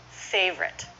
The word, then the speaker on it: favorite: favorite writers and okay so it's two syllables favorite there isn't an absolute rule